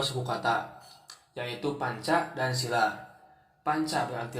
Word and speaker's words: sila: Panca berarti 5, dan sila dengan huruf I yang dibaca pendek mempunyai arti sendi, dasar, alas atau asas. Sedangkan sila dengan pengucapan I yang panjang berarti peraturan tingkah laku yang baik, utama atau yang penting.